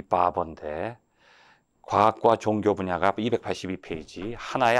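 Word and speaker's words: Barbour: 사람, 네 번째 학자는 바버예요. 바버. 이게 이발사란도 될 수 있고, 어떻게 한국말로 하면 이게 잘못 발음하면 바보가 되는데, 바버.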